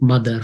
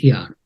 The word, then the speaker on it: mother: So it's like mother, father, etc. Now you know how mother is spelled. It's Mother, but the pronunciation of that is the R is almost silent.